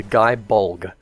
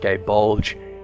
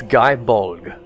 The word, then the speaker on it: Gae Bolg: First up is the Guy Bulg.